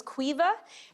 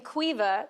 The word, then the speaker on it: Caoimhe: Her name was Caoimhe. And if you don't know the name Caoimhe, that's spelled C-A-O-I-M-H-E.